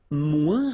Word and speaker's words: moins: Remember, we don't pronounce the final S. Then you put the adjective que, than, and the rest of the sentence. Okay? Elle est moins rapide que moi.